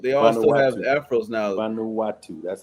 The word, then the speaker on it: Vanuatu: the people of they also have afro now Vanuatu that's how you pronounce it uhuh you don't have the same